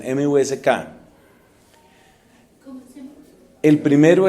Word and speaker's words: Musk: Y busquen a otro señor llamado Elon Musk, o Musk, creo que pronuncian, M-U-S-K.